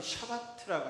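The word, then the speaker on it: שבת: 그 안식일은 히브리 말로 샤바트라고 합니다. 샤바트. 어, 그래서 영어로 표현할 때도 그 샤바트라는 말을 쓰고 있죠. 히브리 말 발음을 그대로 갖다가 샤바트라고 쓰고 있습니다.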